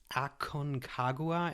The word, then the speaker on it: Aconcagua: mountain outside the Himalayas Aon kagua am I pronouncing that correctly yep that's uh it's correct fantastic so congratulations this